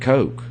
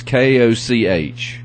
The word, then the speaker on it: Koch: I don't think Now, it's the guys I bought them from say it's pronounced Koch, but Yeah. there's a guy who's a golf announcer. He pronounces it Coke. Really? Yeah. And, I mean, it's Koch.